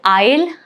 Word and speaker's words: isle: All right, so isle, isle, island. All of these cases, letter S is right before the letter L, and that is why it is not pronounced here.